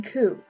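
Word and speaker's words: 九: The number 9 and the word pain also share the pronunciation ku.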